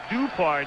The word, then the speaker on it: Dupard: We've been calling him Dupard tonight, accent on the first syllable. Did a college game a couple of years ago featuring Reggie, SMU against Texas, and he said that's the way I prefer it.